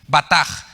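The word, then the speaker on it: בטח: aquí es la palabra batag se escribe con b de bueno y Che al final la ch en hebreos suena como jota batak y significa apresurarse a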